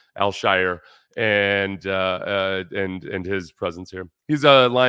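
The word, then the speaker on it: Al-Shaair: I'm still working on naturalizing the way you pronounce his name, Al-Shire, and his presence here.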